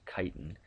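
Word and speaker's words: chitin: Uh you can see a picture down here below of of something called kiten. Yes, that is pronounced kiten.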